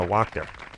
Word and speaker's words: Wachter: I'm going to go with Wachter. You got it. Yeah. Rhymes with doctor.